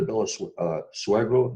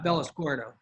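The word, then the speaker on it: Bellosguardo: or going up to bella uh suego the um i know i just pronounced it incorrectly bardo no no uh miss clark that uh the left is the clark estate yeah bellasquarto bella square though exactly you have a better accent than i do that's all that's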